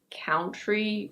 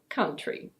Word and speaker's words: country: It's not "cown-try" or "cohn-try". It's: country. Yes, the first part sounds like a certain swear word in English. But remember that when we have TR in the same syllable in English, it's usually pronounced "chr".